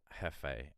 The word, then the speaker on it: jefe: ] songs ever um pronounced Jefe like boss in Spanish to be honest you